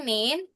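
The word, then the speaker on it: 您: semua sem baca tahaw eh ini bukan ni tapi nin.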